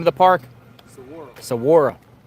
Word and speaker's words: Saguaro: How do you pronounce the name of the park? Saguaro. Saguaro.